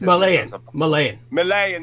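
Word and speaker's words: Myanmar: And of course, Burma to this day, it's known as the Mamayan or Mamaya. That's correct. Malayan. That's how you pronounce it.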